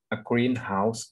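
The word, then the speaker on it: greenhouse: แรก นะ ครับ 2 การ ออก เสียง เน้น หนัก ใน คำ แนน ผสม มัก จะ เน้น ที่ จะ อย่าง แรก นะ ครับ เช่น กรีนเฮ้าส์ หน่อย ครับ แต่ ถ้า เป็น สกรีน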